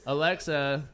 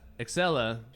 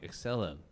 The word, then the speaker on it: Excella: Yes, Alexa. Excella. Excuse me. Excuse me. Excella. Right. You even phonetically spelled it out. I still missed it.